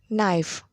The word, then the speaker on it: knife: facts 6 taxi not the letter k is silent in a few words easy no knee knife listen and say the